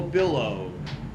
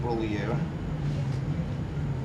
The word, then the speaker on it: Bollier: It's Billow. Bollier. Pronounced Bollier. I excuse myself, that's Bollier in the 74.